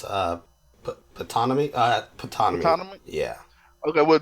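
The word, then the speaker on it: Ptonomy: uh, Panatni. I believe it's pronounced Patanomy.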